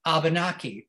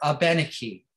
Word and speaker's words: Abenaki: scouts that arrived were abunaki or abenaki depends on how you pronounce it algonquin speaking people and